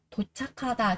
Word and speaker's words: 도착하다: 도착하다, 도착하다, 도착하다. Chúng ta có cờ gặp với cả hờ thì cờ sẽ được đọc thành là khờ.